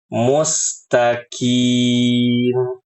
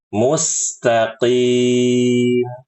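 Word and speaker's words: مستقيم: seperti itu ibu-ibu kemudian mengubah huruf q menjadi Kaf nah ini yang paling sering yang harusnya dibaca mustaqim Q dibacanya mustim mustim ini salah yang benar mustqim begitu dan berlebihan dalam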